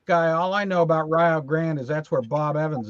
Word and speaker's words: Rio Grande: as a fat guy all I know about Rio Grande is that's where Bob Evans is from yeah rest in peace over here it's pronounced Rio Grande and it's a river that runs through the